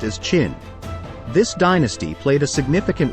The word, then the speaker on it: Qin: It is written as Qin but pronounced as Qin.